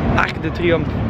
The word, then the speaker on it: Arc de Triomphe: Arc de Triomphe.